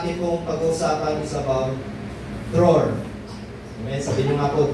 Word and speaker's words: דְּרוֹר: So, pronunciation po ng meaning of freedom, release, liberty is draw.